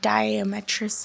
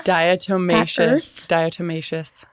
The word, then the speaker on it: diatomaceous: But we're taking some, I don't even know how to say it, diametrous. How do you say it now? Diatomaceous.